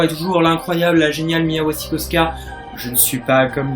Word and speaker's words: Mia Wasikowska: rôle d'Alice, encore et toujours, l'incroyable, la géniale Mia Wasikowska. Je ne suis pas comme Dean the Panda et Mr. Fox, moi je le prononce bien, c'était une superbe publicité pour ma prononciation. Oui, Mia Wasikowska, voilà.